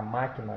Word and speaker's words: máquina: Não é útil, não é oxítona, nem paroxítona, é proparoxítona. Então, máquina é proparoxítona.